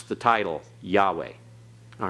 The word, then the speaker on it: Yahweh: pronounced like atere okay both Haze are silent Yahweh okay all right so we pronounce that Yahweh don't pronounce the vowels that are there this